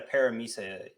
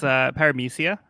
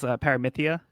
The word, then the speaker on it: Paramecia: Yeah, he said a Paramisa user. I'm probably pronouncing that wrong. But... Yeah, it's Paramecia. Yep. Other translations I've seen is Paramithia. Like Mithia. But Biz goes with Paramecia.